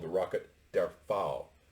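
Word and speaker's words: Pfau: called the rocket der fowle that's with a p f a u but the p is silent they're fou v two because uh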